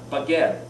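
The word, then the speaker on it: בגד: It means, it's pronounced baged, which is clothing.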